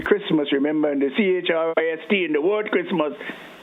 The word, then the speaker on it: Christ: Christmas remember in the ch r i s t in the word Christmas when it is separate from that suffix is pronounced Christ.